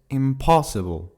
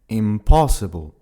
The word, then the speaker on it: impossible: qui se prononcera différemment, puisqu'il se prononce impossible. Tu entends bien que l'accentuation se fait sur la deuxième syllabe, impossible.